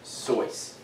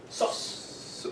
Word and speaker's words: Seuss: Yeah, this is actually kind of like a fun fact almost, because it's actually pronounced sois. Sois. Sois. Like sauce. No, sois. Sauce. Sois. Sois. Like soy sauce almost, but sois.